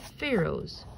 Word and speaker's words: Pharaoh: the kings were called Pharaohs Pharaoh rhymes with arrow that pyramids held a